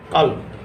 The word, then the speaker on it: ক্বালব: আমি কাল বা আরবির যে উচ্চারণ আছে সেটা হচ্ছে কাল।